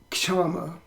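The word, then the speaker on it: kṣamā: Then the next one is called Ks'ama, K-S, diacritical mark, Uchi, A-M-A, Ks'ama. Or it could be pronounced Kama, also in different pronunciations of Sanskrit.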